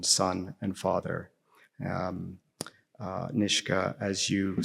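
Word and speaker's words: Nishga: Um um Nishka answering the question again what you've just said what it means to be Niska but the title of your book is not Niska it's Nishka.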